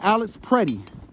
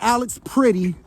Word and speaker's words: Alex Pretti: It was a man named Alex PRETTI. Okay, not Alex Pretty and not Alex Petty. I see a lot of people mispronouncing and it's Alex PRETTI.